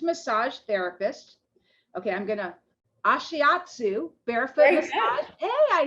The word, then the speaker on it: ashiatsu: ambassador a licensed massage therapist okay i'm gonna ashiatsu barefoot hey i said it right yeah barefoot